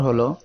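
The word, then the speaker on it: ح: আজকে আমাদের এর পরের অক্ষর হলো হা। এই অক্ষরে এক আলিফ টান হবে। হা এই অক্ষরের মাখরাজ হলো কণ্ঠনালীর মধ্য হইতে হা উচ্চারিত হয়, অর্থাৎ এই মধ্যখান থেকে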